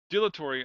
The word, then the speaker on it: dilatory: back in middle school dilatory i like the word dilatory because i know it just it has those syllables de la Torre Allah Tori yeah four syllable it's a Quadra Salah Slavic